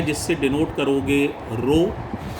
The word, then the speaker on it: rho: Date डली हुई है, आप देख पा रहे होंगे। लेक्चर थर्ड है। टॉपिक का नाम है रेजिस्टिविटी। सिंबल है जिससे डिनोट करोगे रो। स्पेलिंग बगल में मैंने लिख दी है RHO, रो।